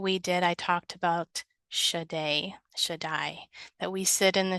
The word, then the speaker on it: Shaddai: I say, and knowing that I want to pronounce it biblically, so therefore it's Shaddai.